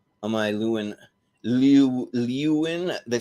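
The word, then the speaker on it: Leeuwen: i lu and liu liwin they spell it l-e-e-u-w-e-n it's like you in it it's french like honestly this works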